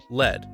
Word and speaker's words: Led: They were concerned that lead would be pronounced like the Warriors blew a 3-1 lead to the Cavs, rather than lead, like, there's too much lead in the water supply.